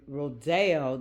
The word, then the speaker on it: Rodeo: my own deeper um dive the um the rodo that's the correct pronunciation of it the rodeo cuz it's named